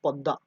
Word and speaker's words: पद्मा: नाम हो जाता है पद्मा, पद्मा या फिर पद्दा, जो भी बोलिए। बंगाली में अगर प्रोनाउंस करें तो उसको पद्दा बोलेंगे, और हिंदी में बोलेंगे तो पद्मा, ठीक है, पद्मा रिवर।